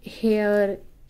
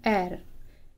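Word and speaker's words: heir: द एयर, अब यहाँ पे ये हेयर, हियर ऐसा कुछ नहीं पढ़ेंगे। इसका जो प्रोनाउंसिएशन है वो होता है एर।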